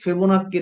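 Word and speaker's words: Fibonacci: এক্স এর বৈশিষ্ট্য কি থাকবে এক্স সাচ এক্স ফেবোনাক্কি নাম্বার ফেবোনাক্কি একজন বিজ্ঞানীর নাম গণিতবিদের নাম ডাবল সি উচ্চারণ ক ফেবোনাক্কি ফেবনাম্বার এন্ড এবং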